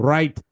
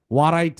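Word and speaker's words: write: না ও পড়বে কিন্তু রাইট ওরাইট ওয়ারাইট এরকম পড়বে রাইট কিন্তু পড়বে না কারণ সে সাইলেন্ট ডব ডাবল ইউ থাকলে ডবলিউ আর এর আগে ডবলিউ থাকলে ডবলিউটা সাইলেন্ট হয়ে যায় ওরা কি জানে ওরা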